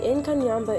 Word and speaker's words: Inkanyamba: creature called the Inkanyamba, and here is the pronunciation. The Inkanyamba is a legendary snake said to live in a waterfall lake area in South Africa called Howick Falls.